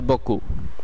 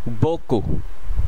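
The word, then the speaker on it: beaucoup: দ্বিতীয় শব্দতে যাওয়ার আগে একটি গুরুত্বপূর্ণ কথা বলে নেওয়া দরকার যে অনেক সময় ফরাসির শেষের বর্ণটি উচ্চারণ করা হয় না, আবার অনেক সময় করা হয়। যেমন এই ক্ষেত্রে এটির উচ্চারণ হবে বকু, বকু যার অর্থ অনেক।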